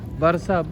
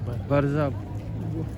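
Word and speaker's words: Warszawa: Barzab ang bigkas nila. Barzab. Sa salita nila, Barzab. Pero sa English, Warsaw.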